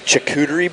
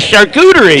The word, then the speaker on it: charcuterie: tonight with the best chicouteri board is how you say it charcuterie now after that for